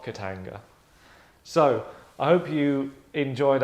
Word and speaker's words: Katanga: Remember, Katanga, say it like that.